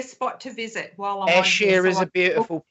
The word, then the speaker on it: Ayrshire: Ayrshire, is that how you say it? We say sheer as in see-through material. Sheer. Okay. But some people Shire because they like.